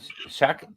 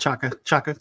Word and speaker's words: Chaka: Shaka, I don't know how to say it. Chaka, like cheese, but chaka. Chaka. I keep wanting to say shaka, but okay.